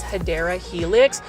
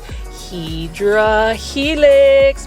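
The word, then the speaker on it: Hedera helix: beautiful English ivy or the correct way to say it is hadera Helix for those that are new to the channel I mispronounce hadera Helix as hedra Helix because when I first started doing plant shopping videos I was actually saying hedra Helix when it was actually hadera Helix it's um a long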